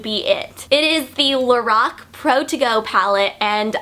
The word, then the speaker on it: Lorac: brand is actually pronounced Lorac and not Lorac I met a girl that does work for Lorac and she said that the name is pronounced Lorac because it's actually the Creator's name backwards so Carol and backwards